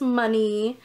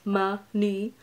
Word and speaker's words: Manny: oh my god and my name is money I know it's spelled like Manny but it's money ah ha I just